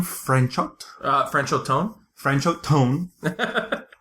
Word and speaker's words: Franchot Tone: franchot uh franchot tone francho tone which l literally sounds like a trombone he's kind of a